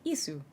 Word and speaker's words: ISU: Assault guns using the chassis of the Joseph Stalin heavy tank are called ISU, pronounced like ISU.